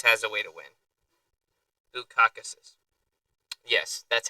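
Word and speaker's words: Bukauskas: Bukakus. Yes, that's how you pronounce the dude's last name.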